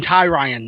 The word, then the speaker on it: Tyrion: I mean it's all overshadowed by Tyrion, or I want to call him Tyrion now. That's how I pronounce.